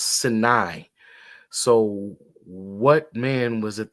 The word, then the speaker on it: Sinai: Why was the desert called the Sinai Desert, not Sinai? It's pronounced Sinai.